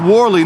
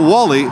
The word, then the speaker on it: Warley: and funnily enough warley it's pronounced warley not Wally Wally according to the